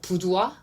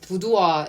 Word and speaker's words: Boudoir: Sarah Kim, the Asia regional director of luxury brand called Boudoir, is found... Is it I always wonder the correct way of pronouncing that brand if it were real. It's supposed to sound like French.